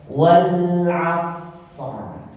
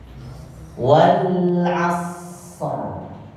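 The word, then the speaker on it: والعصر: kita mau wakaf maka dia huruf ro menjadi tebal karena kita sukunkan maka sudah berlaku hukum tadi karena di belakangnya huruf istilah maka kita bacanya wal asr wal asr nah ini di Wal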